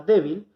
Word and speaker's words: débil: La palabra débil es grave porque contamos de derecha a